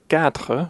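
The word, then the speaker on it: quatre: these two syllables together you can think of the word cat in English and then make the a sound in French so cat cat sank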